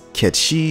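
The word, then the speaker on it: Cait Sith: as it turns out the name Kate Sith isn't Kate Sith at all in fact it's pronounced Kechi it's a Gaelic name of Celtic origin and it refers to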